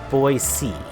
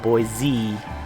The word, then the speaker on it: Boise: i think it's pronounced voice c now anyone that's outside of idaho we always call it boy z but i believe that is incorrect so where does the